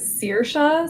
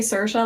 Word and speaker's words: Saoirse: quick just to help you out with the pronunciation. So I I do it sir. So like if you think about like searing a steak. Okay, that makes sense. Okay. Yeah, some people do say Cersa.